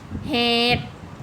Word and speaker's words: เหตุ: คำ บาง คำ เช่น เหตุ นะ คะ สละ อุ ไม่ ออก เสียง พยาธิ สระ อิ